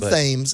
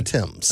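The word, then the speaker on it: Thames: London sorry always mispronounce is it the Tims River the TS cuz it looks like fam it's not the fames it's the Tims okay it goes across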